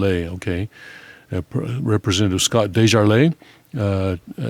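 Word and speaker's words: DesJarlais: caucus repres pres ative Scott uh Dez geros Republican of Tennessee pronounced de Jarl okay representative Scott dejarle uh T Trent Franks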